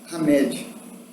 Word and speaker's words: Hamed: pelo espírito de hamed você escreve com h pronuncia-se hamed a gente tá muito